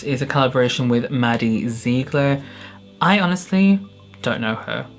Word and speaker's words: Ziegler: This one is in collaboration with Maddie Ziegler. I thought it was Ziegler, apparently it's Ziegler. I just watched someone and they pronounced her name as Ziegler.